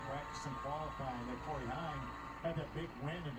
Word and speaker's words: Heim: Heim, like Hockenheim. Like, is it really pronounced Heim or is it Haim? It's Usually Heim. I see it pronounced as Haim. Heim, it's like Hockenheim ring.